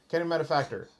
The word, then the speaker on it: Academy Manufactor: no procession crazy good right like you said Academy manufactor did I say it right yes okay Academy manufactor doesn't matter it's colorless so it goes it's